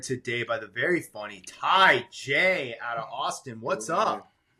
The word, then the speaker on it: Taija: by the very funny Ty J out of Austin. What's up? What's up, baby? What's up, man? When you pronounce his name, you got to remember the Tai and the J.